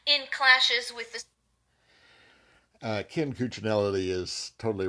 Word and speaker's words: Cuccinelli: Oh, Ken Cuccinelli, yeah. Yeah, Ken, is that how you say it? Cuccinelli.